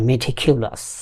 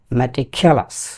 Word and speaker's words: meticulous: ম্যাটিকিউলাস আর মেটিকিউলাস। এর প্রকৃত উচ্চারণ হচ্ছে ম্যাটিকিউলাস।